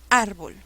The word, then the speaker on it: árbol: la palabra árbol bolt cuál es la sílaba que lleva la mayor fuerza de voz a ver árbol árbol suena bien árbol árbol no suena pésimo la sílaba que lleva la mayor fuerza de voz es ar hasta ahí todo bien